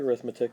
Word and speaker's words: arithmetic: sequences and series again the word looks like arithmetic but it's pronounced arithmetic when it's describing the type of